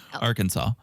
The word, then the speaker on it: Arkansas: appropriate name so you don't mess it up Arkansas Arkansas for those new to the Pod yes